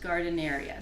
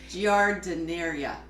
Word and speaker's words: Giardineria: That's what it looks like, but Hot Gardeneria. So it. there's an I in there, so. Yeah. Giardineria. And the important thing is that it's hot and that it's a ton of vegetables.